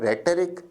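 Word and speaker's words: rhetoric: शब्द के उच्चारण पर भी ध्यान दीजिए। प्रोनंसिएशन है रेटरिक।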